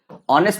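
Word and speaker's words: honest: तो जैसे ऑनेस्ट है ऑनेस्ट में एच साइलेंट है कि नहीं साइलेंट होता है ऑनेस्ट बोलते हैं तो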